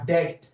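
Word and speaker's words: debt: Discharge, will discharge a डेट, डेब्ट को हम लोग डी साइलेंट होता है डेटर बोलते हैं, डेट ऑफ रुपीज 6450।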